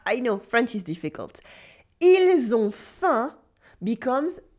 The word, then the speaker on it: ils ont faim: Ils ont faim becomes ils ont faim. The L is silent, but the S still sounds like a Z before a consonant.